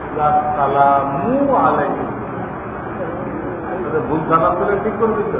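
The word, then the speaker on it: السلام عليكم: সালাম দিলেন আসসালামু আলাইকুম এই সালা সালামু আলাইকুম ঠিক করে দিতে হবে আসসালামু আলাইকুম ভুল হলে ঠিক করে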